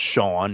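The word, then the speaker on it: Chone: it, you know, but I think it's really pronounced Shawn, you know, like S H A W N, but it's his name is spelled C H O N E.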